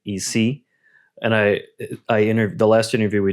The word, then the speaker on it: Ise: I notice when you pronounce, I say Ise, that's how we say that, and you're saying Ise.